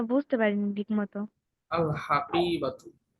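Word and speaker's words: الحقيبة: আল হাকিবাতু। ও আচ্ছা। এখানে কফের পরে একটা ইয়া আছে কিন্তু, এজন্য টান হবে। আল হাকি, এরপরে বা জবর বা, বাত, হাকিবাতু, আল হাকিবাতু।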